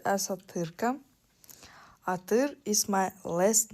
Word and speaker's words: Атырка: Uh my nickname is pronounced as Atyrka.